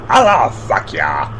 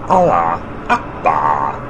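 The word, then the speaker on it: Allahu Akbar: Allah fuck ya. Allah fuck ya. Oh, sorry, I said it wrong again. It's pronounced Allah Akbar.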